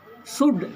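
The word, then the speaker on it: should: शुड, इसमें L को नहीं पढ़ा जाता है।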